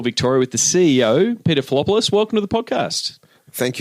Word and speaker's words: Filopoulos: I usually get Filopoulos, but you said it right, Filopoulos.